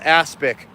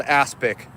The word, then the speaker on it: aspic: It's called aspic. I'm not kidding. It's literally called aspic. Spelled like Asperger's. Aspic.